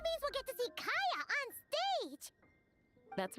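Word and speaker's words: Kaeya: No, I mean like cavalry horses, because like Kaya, I say Kaya because I stuck on the Korean pronunciation. I used to have the voices in Korean, and they say it Kaya, and he's supposed to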